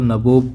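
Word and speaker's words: nabob: और तो ये जो इंग्लिश वर्जन है नवाब का, तो नबोब करके उन्हें प्रोनाउंस किया जाता है, क्योंकि बहुत ज़्यादा वो लूट करते थे।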